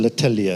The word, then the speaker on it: L'Atelier: One of the things that we've been doing as Absa, we've supported the Absa L'Atelier.